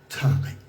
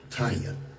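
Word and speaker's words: Tiye: One of the most significant figures in our history was Queen Tai, or pronounced Taya.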